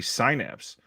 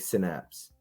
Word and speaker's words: synapse: I for some reason I used to say syapse I don't know why so I always say kind of like synapse which and then seriously